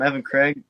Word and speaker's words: Evan Craig: So with me I have Evan, Evan Craig, right? Is that is that how you pronounce? Yep. Uh, I'm Evan Craig.